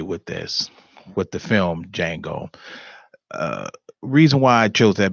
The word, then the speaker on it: Django: tonight's show is called Django that's d.j a in G Oh the D is silent now for those who are not for me with this with the film Django reason why I chose